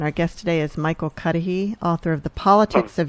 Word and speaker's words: Cuddehe: guest today is michael cudahy author of the politics of unity and invitation to the high road are we pronouncing your name correctly michael yeah great okay so um